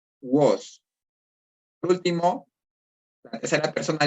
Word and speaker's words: vos: Aquí tengo que mencionarte que la letra V en latín es una U, entonces se pronuncia vos.